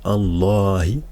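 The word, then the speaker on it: الله: y a une prolongation parce qu'on dit Allah vous voyez que c'est on dit pas donc là il y a une prolongation donc elle s'écrit pas mais on la prononce et si je vais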